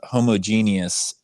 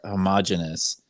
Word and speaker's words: homogeneous: For snickering at you in our last episode for your use of the word homogeneous, which is also pronounced homogeneous. And it was brought to my attention that both pronunciations are correct.